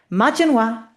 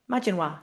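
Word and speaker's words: Maidin mhaith: Majininoa. Majininoa.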